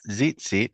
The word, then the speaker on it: tzitzit: But no one pronounces it like a Z in the not communities, for sure into some individuals, but Tzitzit. yeah, it's better to do either just an S sound or do a TS.